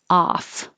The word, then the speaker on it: off: of a sudden the o sounds like an a and the f sounds like an f off so open ah off